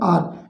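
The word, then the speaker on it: hour: उसके बाद हम देखें एन आर, इसको हावर नहीं बोलेंगे, इसको बोलेंगे आर, एन आर, तो यहाँ पर प्रयोग किया गया एन का।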